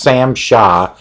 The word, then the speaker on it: SAMHSA: this comes from the CDC through its Road pronounced Sam Shaw but it's SAMHSA which is a they're involved